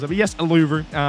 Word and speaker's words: Uluru: But anyway, we are here today at Uluru in Australia. I think that's how you pronounce it. But yes, Uluru.